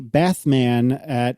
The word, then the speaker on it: Bathman: And this is Bathman on Twitter. Do you think he mispronounces that Batman on purpose?